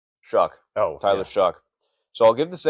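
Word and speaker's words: Shough: Shuck. Oh, Tyler Shuck. So I'll give the Saints another guy whose name is not pronounced the way it looks like it should be.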